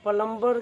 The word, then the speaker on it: plumber: कि यह इंग्लिश में ओरिजिनल कि उच्चारण ए प्लंबर होता है क्योंकि अंग्रेजी ग्रामर के हिसाब से पलंबर में 20 साइलेंट हो जाता है इसी वजह से